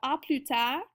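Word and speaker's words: à plus tard: you later we've got oput and our s is silent as well as the D and then in atut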